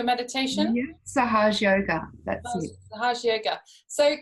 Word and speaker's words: Sahaja Yoga: So the type of meditation we're doing today, Lisa, is, if I pronounce this right, it's called Sahaja Yoga Meditation? Yeah, Sahaj Yoga, that's it.